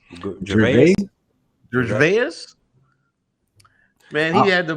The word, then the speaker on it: Gervais: Gervais? Gervais.